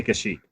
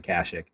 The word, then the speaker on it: Kashyyyk: leaving with me i i thought it was pronounced kashyyyk i always said kashyyyk as a kid and me too i still say kashi but i know a lot of people pronounce it kashic i think too i